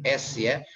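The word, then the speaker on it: ش: sa seperti huruf sin, s ya. Kemudian sya. Nah, ini agak sedikit membedakan antara sa dengan sya. Sya itu cara pengucapannya udaranya keras, sya ya, keras ya.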